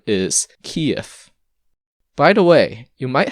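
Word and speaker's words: Киев: why this phenomenon occurs the original letter is the equivalent of v but it's pronounced like an f the question is what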